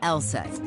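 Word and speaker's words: LSEG: be a bit misleading take ours for instance pronounced LSAT AKA London Stock Exchange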